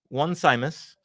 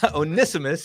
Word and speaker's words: Onesimus: because this so um onesimus or one simus that's how you spell it um onisimus it looks like one simus but um and there's